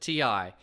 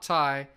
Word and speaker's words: Ti: yes i pronounced at TI everybody I've ever met pronounces it ti not Thai so we're gonna go